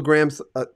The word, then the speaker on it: Gramm: into radio uh uh I was pronouncing your name wrong I mean I know it's Graham now because I mean you're